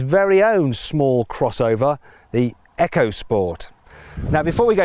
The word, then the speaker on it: EcoSport: little bit confusing because when Ford uses the letters e o and puts them before the word boost it pronounces them as Eco as in EcoBoost that's what it calls its engines however when it takes those same letters e c o and puts them before the word sport pronounces them as Echo as in echos sport now we'll come